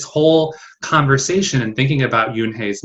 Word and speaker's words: Yoon-hae: I think this book is cool because it not only teaches us how to pronounce the main character's name, Yoon-hae.